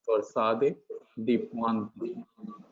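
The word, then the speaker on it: torsade de pointes: So it's torsade de Pointe. Torsade de Pointe, right? You have to soften the T.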